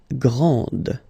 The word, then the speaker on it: grand: This final D is not pronounced. Okay, so grand, and then the feminine form, grande. Okay, so you put this E, and then you get the sound D, D, grande.